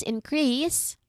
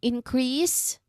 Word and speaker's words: increase: Increase. Now, just like the others that we have practiced, this one changes meaning depending on where we put the stress. Now, in um increase, we stress on the first syllable here.